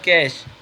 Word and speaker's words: cache: ऐसे समझ सकते हैं कैश कैश pronounced as कैश इज a small and